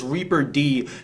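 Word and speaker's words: Reapered: You call him Reppard, I call him Reapard. I think Reppard is how Koreans pronounce ex-KT member Leopard. Actually, it's Reaper D.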